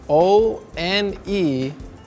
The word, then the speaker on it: one: But when we have O, N, E, we make the sound one.